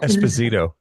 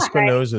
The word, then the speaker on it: Esposito: How do you say your last name? Esposito. Esposito. Yeah. Espinosa. So it's funny. Like, Espinosa is what my coach would call me in college as a joke, like all the time.